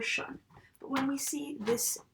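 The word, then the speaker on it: -sion: They both have that shun. Sometimes S-I-O-N is pronounced shin, if you say really fast, but it can be either shin or shun.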